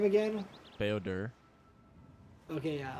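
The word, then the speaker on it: Bao-Dur: Beodur. Okay, yeah. Like for some reason, again, I want to say Bao. I'm like Bao. But apparently no, you don't pronounce it that way.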